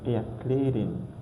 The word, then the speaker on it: erklären: We read it like air. Air. We pronounce air. Air. So for example, we have this word erklären.